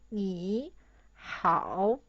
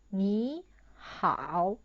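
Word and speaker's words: 你好: So we change the first third tone into second tone. So it turns into 你好.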